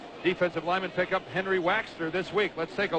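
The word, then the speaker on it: Waechter: for him up until this morning there's Henry waxer don't think we're crazy in the way we pronounce it that's the way he wants us to say it waxer look like it was WX t r how's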